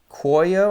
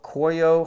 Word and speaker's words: Cuoio: the one in horsebutt this is coyo i think is how you say it c-u-o-i-o coio horse butt from the